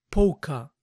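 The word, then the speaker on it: polka: bolitas aoc dress dress recuerden no pronunciar la l de la primera palabra pca y a continuación unos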